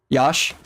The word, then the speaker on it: Yash: Yash. Okay. It's like with a Y.